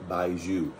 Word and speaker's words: baijiu: store do they sell baiju i will spell it on the screen because it doesn't sound like it says um maybe we can